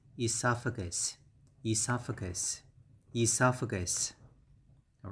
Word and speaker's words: esophagus: this one that's okay the pronunciation is a lot simpler than that okay so the first pronunciation is and next you have fur gas for gus so it's esophagus esophagus esophagus esophagus all right